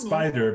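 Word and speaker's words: SP//DR: know yeah it's just it's it's spider but it's it's spelled s p slash slash dr right right that is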